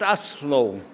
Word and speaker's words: Oslo: Not too slow, just Oslo.